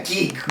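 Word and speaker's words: ギーグ: It's supposed to be pronounced Gigu, but yeah, Geek or whatever.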